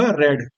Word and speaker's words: read: तो इसलिए इसका प्रोनाउंसिएशन क्या होगा, रेड। ध्यान देना, ठीक है, इसको रेड नहीं पढ़ेंगे। तो READ, रेड, रेड मीन्स पढ़ा।